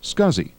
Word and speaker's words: SCSI: small computer system interface is pronounced scuzzy and the st 506